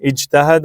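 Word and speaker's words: اجتهد: इज्तहिद, इज्तहिद क्योंकि इधर भी सेम केस है, या जब हटाया जीम साकिन है, बोल नहीं सकते, तो हम माजी से हमजा लेंगे।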